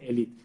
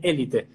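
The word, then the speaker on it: Élite: los actores, me dijeron, no se dice Elite, se dice Elite. Elite. Yo pensé, digo, claro, tienen razón, porque tiene el acento en la primera E, y es verdad, pero nos suena raro.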